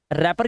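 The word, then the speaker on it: wrapper: रैपर के अंदर हम सिर्फ इतना पढ़ रहे हैं। डब्ल्यू साइलेंट है।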